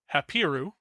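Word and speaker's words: Habiru: And one of those groups, the way that you pronounce this is Hapiu, which sounds an awful lot like Hebrew because it is the word Hebrew.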